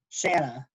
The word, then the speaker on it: Shanna: get her name wrong shanna yeah shayna banana not shauna banana yeah shanna goes through